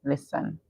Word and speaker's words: listen: present all right but when you're pronouncing the T silence so we hear list and N listen what does it mean